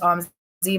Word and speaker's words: Amzi: it's actually i s it should probably be pronounced on z but i always say amezi because is my name so like i'm